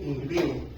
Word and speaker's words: impío: Es se dice impío. Impío impío porque tiene acento en la última. Impío. Ahí se se se enfatiza. Impío. Impí impío. Impí impío. No, impio.